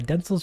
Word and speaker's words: Densle: Densle's pronounced Densle, so just like a Densle or Densle. Like Denzel Washington, but with a S instead of a Z.